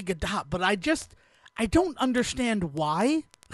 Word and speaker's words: Gadot: Apparently, it's Gal Gadot. Okay, I'm fine with that. I mean, like, I've heard it pronounced Gadot on TV when she's being spoken to. So, like, it has to be Gadot, but I don't understand why.